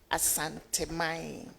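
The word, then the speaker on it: Asante: And so let us give it the full um detail of the pronunciations. Asanti.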